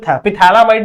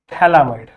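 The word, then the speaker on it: phthalimide: ये है बच्चों पिथैलामाइड नहीं पढ़ते। मैं गलती से पिथैलामाइड बोलता हूं। ये है बच्चों आपका थैलामाइड। ठीक है? थैलीमाइड। क्या पी साइलेंट है इसमें।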